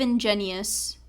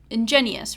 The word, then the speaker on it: ingenuous: silly but kind of ingenious and I think I pronounced that wrong inous ingenious in ingenuous right like disingenuous ingenuous but ingenuous ingenuous ingenuous